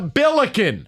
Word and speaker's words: Billiken: It's a billiken. Whatever. It rhymes with milliken.